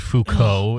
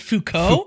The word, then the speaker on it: Foucault: a what a simp i've i've never read foucault in the service of trying to get a